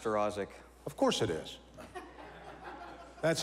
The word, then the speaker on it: Staroszik: it's just gonna be chef welcome it's pronounced her Isaac of course it is that's how I would